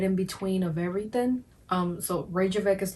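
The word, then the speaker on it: Reykjavík: And Reykjavik, I think I'm pronouncing it with American accent, and it's actually Reykjavik. Reykjavik, that's how they pronounce it.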